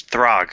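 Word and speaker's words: Throgg: TR how do you say that name it's throg throg troll King no truan morish yeah the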